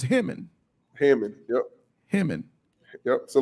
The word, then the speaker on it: Hammond: Oh, we can't go to Hammond? Yeah, 12 is the fastest way. Make sure you Hey, how's it properly pronounced? Hammond or Hammond? Hammond. Hammond. Hammond. Hammond. Hammond. Yep, like ham.